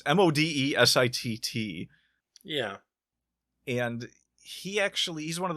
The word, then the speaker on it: Modesitt: I don't know how to pronounce his name. It's Modesitt.